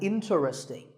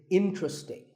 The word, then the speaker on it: interesting: number 11 is interesting this is mispronounced sometimes as interesting but there are only three syllables in true sting and the stress is on in so the word is interesting number 12 is Hotel